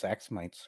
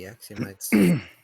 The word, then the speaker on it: Axiomites: I guess it's Axomites or whatever, or however that's pronounced. It would have to be Axiomites.